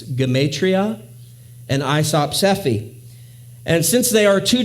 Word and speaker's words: isopsephy: isopsephy now i know if you look at that word on a page it looks like it should be pronounced isopsy and i think that